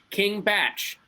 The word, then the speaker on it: King Bach: I am being told by Twitter that King Bach's name is pronounced King Batch.